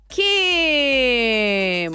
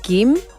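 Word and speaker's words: 김: It's like a mixture between a G and a K.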